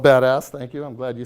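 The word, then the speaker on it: BDAS: stack it's the acronym is be das it's pronounced called badass thank you I'm glad you said it not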